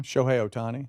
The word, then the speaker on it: Shohei Ohtani: Shohei Ohtani.